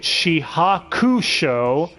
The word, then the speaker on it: shihakusho: sorry bird outfit no why don't you pronounce it the way they did it's only chad and he calls it shihakusho even though every other character says she hawks showing the you is silent damnit but yeah anyway tsukishima